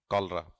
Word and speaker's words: cholera: कॉलरा की spelling होती है CHOLERA, कॉलरा।